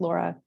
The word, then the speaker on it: Lara: Yes, I spell my name weird. It's pronounced Laura.